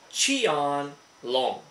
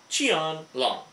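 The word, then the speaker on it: Qianlong: and this is actually spelled q i a n l o n g which you pronounce it chion long chan long and you know where I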